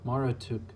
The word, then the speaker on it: Marduk: the origins of a god pronounced Mara took Marduk is the ancient